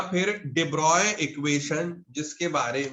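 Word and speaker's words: de Broglie: हुआ है ठीक वह मेल जो है यह साइलेंट रहता है ठीक है तो उसका प्रनंसीएशन एंड डिब्रॉय डिब्रॉय एक डिफ्रेंस फिजिसिस्ट डिपॉजिट डिब्रॉय क्वेश्चन आएंगे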